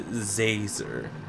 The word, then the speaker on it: Zazer: doing it on purpose it's professor zazer like laser with a z how's that hard who